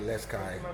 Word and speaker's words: Les Cayes: Oh, they call it Okai. Okay, Les Cayes.